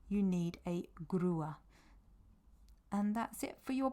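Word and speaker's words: grúa: truck you need a grer a grer now that is a hard G as well because it's followed by this r there's no U there so it's a grer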